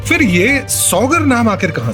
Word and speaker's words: सागर: या कुछ और बल्कि अंग्रेज सागर शुद्ध भाषा में बोल नहीं पाते थे। उनकी स्पेलिंग और उच्चारण इस तरह से थे कि वो सागर को सौगढ़ कहते थे।